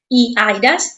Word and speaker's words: eIDAS: digital Service Act and the eidas I was told that's the way to pronounce it and they talk about